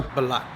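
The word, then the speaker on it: Belak: So today we got Intro, we got Bogarts, and then the new wheels are Black. Black. Black. Black. How you spell that?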